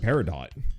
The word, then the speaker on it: peridot: that don't do that i've never pronounced the t it must be a regional thing maybe it's uh i don't know australian or who knows what i've always heard peridot so whatever it is